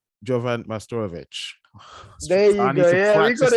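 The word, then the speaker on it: Jovan Majstorović: I'm here with my guest, I will keep make sure I pronounce it properly. Jovan Majstorovic. Jovan Majstorovic.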